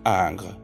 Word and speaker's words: Ingres: by Jean AUST Dominic Ang it's spelled Ingres so get into that